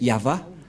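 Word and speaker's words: יהוה: Yod, He, Vav, He. C'est l'alphabet hébreu qui est prononcé Yahva.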